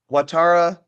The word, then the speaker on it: Ouattara: So basically, the question here is Ouattara was, I think I'm pronouncing that correctly.